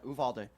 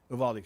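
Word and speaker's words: Uvalde: How do you pronounce it? Yeah. Uvuvaldi. Uvaldi shooting.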